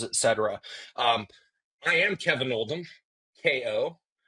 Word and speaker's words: Oldham: Um, I am Kevin Oldm, KO. My last name is spelled like Old Ham, O L Dam, and uh, I own DeFactory, which is a combination of the words differentiation and factory.